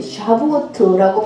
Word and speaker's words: Shavuot: 절기로 배우니까 오순절을 히브리어를 그대로 이렇게 영어로 표시한 걸 보면은 SHAVUOT, 샤부오트라고 발음을 하더라고요. 샤부오트.